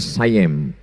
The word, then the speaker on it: Siam: Tulisannya Siam. Orang Barat membacanya sayem.